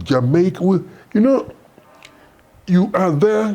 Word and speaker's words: Jamaica: I come from Jamaica. It's Jamaica.